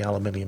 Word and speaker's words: aluminium: alloys probably aircraft grade aluminium although technically aluminium isn't actually an alloy and yes that is how you pronounce it crypt a crypt hidden